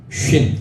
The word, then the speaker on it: ש: 활활 타오른 모양처럼 생겼습니다 이게 오른쪽에 있으면 쉰 SH 발음입니다 쉰 왼쪽에 있으면 스 발음입니다 스스 예 그래서 뭐